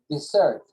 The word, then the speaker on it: dessert: I'd also like a dessert, but Dessert, con doble S. Con una S y la pronunciación desert es desierto. Esto es postre.